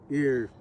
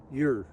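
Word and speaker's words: Eir: So spells E I R ear, but it's actually with a Y. Yeah. Okay. See, but that's okay. It's spelled e i r your That's how you say it.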